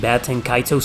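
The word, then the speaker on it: Baten Kaitos: back number three bats and kaitos and Baton kaito's Origins yes it's pronounced baton kaitos I think the reason why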